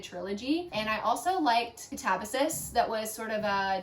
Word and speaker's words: Katabasis: If you read this one and you like it, would definitely recommend Catabasis. And that, yes, that is how you say it. It's not Catabasis.